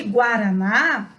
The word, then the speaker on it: Guaraná: Só que Guaraná, preste atenção no som, é escrita com GU, mas o U tem som.